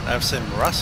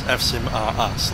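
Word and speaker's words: AVSIM.ru: There's a bit of contention to say how you pronounce AVSIM Rus. Is it AVSIM Rus as in Russia? Yes, it is. I often like to say it's AVSIM are us, like Toys R Us, that business.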